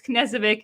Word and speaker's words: Knezevic: You know, when people see that KN, they're not sure is the N like more pronounced than the K. Anyway, it's Knezevic.